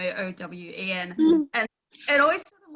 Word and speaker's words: Eoin: I always love when you see it written somewhere and it'll be like Eoin Colfer, pronounced Owen, O-W-E-N.